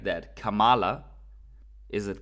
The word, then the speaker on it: Kamala: that so the are these two right comma comma is the correct pronounce comma or Cam comma comma is the